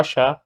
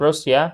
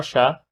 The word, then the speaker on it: Russia: Russia, ممكن النطق بتاعها Russia by the way, يبقى مش روسيا, اسمها Russia.